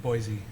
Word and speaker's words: Boise: There's I drive- no Z in there. Boise. No. That's how I say it.